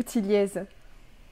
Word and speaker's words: Thilliez: Alors c'est Tillier, Tillier dans le Nord. Après bon, j'ai l'habitude qu'on appelle Tilliez, donc ça ne pose pas de problème, mais on va dire si on veut être puriste, c'est Tillier.